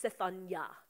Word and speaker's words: Zephaniah: You know, Zephaniah is actually pronounced Zephaniah. Okay? Zephan is to be hidden, and Yah is in Yahweh, God.